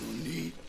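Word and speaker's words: なに: You don't say nanny, you say nani.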